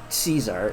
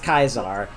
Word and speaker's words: Caesar: Soft C uh sound so like it's not Caesar it's C it's k yes and it's kaizar um because the way I've been told and